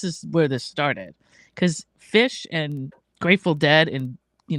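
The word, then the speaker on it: Phish: It's fish food. And fish is spelled P H I S H, not F I S H.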